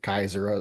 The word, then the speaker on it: Caesar: Well, cuz he he resumed or he took the role of of Caesar Kaiser. That's how they say it.